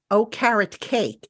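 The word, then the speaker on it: Okereke: um co-hosts on and he said Just remember oh carrot cake and he says you'll never get the name wrong I don't know Bobby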